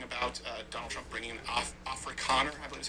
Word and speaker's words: Afrikaner: For example, we're talking about Donald Trump bringing in Afrikaner, I believe is how it's pronounced, refugees, because in September 2024, Ramaphosa signed